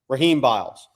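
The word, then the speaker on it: Rasheem Biles: I've been told the S is silent. Raheem Biles.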